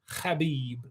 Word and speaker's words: Khabib: regular guys okay oh Habib he's uh from Dagestan he says his name properly khabib how do you say